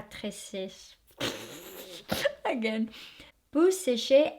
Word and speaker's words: sèche: So not séché, not like her. So it's peau sèche à très sèche.